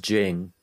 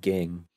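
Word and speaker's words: Ging: now that i know it's actually pronounced jing not king that was so cool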